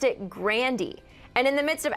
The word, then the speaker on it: Grande: keep Grande to remember her grandfather but she pronounced it grandiy and in the midst of everyone freaking out